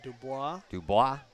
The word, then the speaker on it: Dubois: This one will be taken by Jake Dubois. I'd say Dubois. That's the French pronunciation anyway.